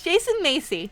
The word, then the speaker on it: Jason Macy: as you all know my name is Jason Macy and that's the proper way to pronounce it starting today I will